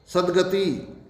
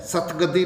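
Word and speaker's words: सद्गति: सदगति ये शुद्ध है, सतगति नहीं होगा, सतगति नहीं होगा, सदगति होगा।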